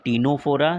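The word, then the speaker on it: Ctenophora: फिर टीनोफोरा, सी जो है ना वो साइलेंट रहता है, ठीक है।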